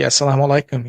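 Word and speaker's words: as-salamu alaykum: I we were Muslims is it assalamu Alum is that right am I saying it right absolutely asalam alikum yeah and then you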